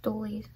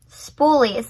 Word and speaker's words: spoolie: I think they're pronounced stoolies. Spoolies, they're called spoolies, okay.